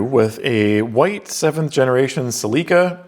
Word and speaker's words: Celica: Next up, we have Andrew with a white 7th generation Celica or Celica. Before you Americans freak out on me for pronouncing it wrong, just take a breath, will you?